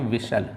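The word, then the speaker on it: whistle: तो आपका देखो एच और टी साइलेंट हो जाएगा। तो आप लोग यहां पे देख लीजिएगा ऑप्शन में ऑप्शन नंबर बी आपका आंसर हो जाएगा। एच एंड टी आपका साइलेंट हो जाएगा। जब एच टी साइलेंट हो जाएगा तो इसको क्या पढ़ा जाएगा? इसको पढ़ेंगे विसल। ठीक है? आप लोग धरते हैं। इसको क्या पढ़ेंगे? विसल पढ़ेंगे।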